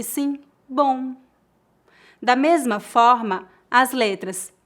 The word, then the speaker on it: bom: As letras OM em final de palavras pronunciam-se aproximadamente como as letras O, U, N, on, on. Veja alguns exemplos. Bom, som, garçom. Note que não tocamos os lábios para pronunciar o M.